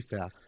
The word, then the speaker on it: Pfaff: It'd be Pfaff. Probably the P is silent.